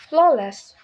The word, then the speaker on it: flawless: Flawless. Lastly, in this word, the first syllable flow is stressed, making it flawless, not flawless.